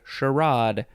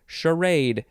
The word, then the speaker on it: charade: charactery i guess and our last word is charade although some people like to say sherrod but i shall say charade c-h-a-r-a-d-e noun from 1776